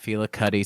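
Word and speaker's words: Fela Kuti: Um, and I don't have a better pronunciation than that. Fela Cuddy sounds good.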